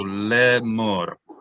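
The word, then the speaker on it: לאמר: Lamed is an L sound plus sere is le. This aleph is silent. So le. Mem plus cholam is mo plus resh is mor. So le mor. Everyone say le mor.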